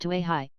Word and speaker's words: Kauai: to an end at Kauai usually pronounced to a high and before we find